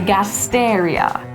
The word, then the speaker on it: Gasteria: to want to remember is the words that end in IO or IA, because they're actually going to get the emphasis on the third to last syllable. So you see that here with our senecio and the gasteria.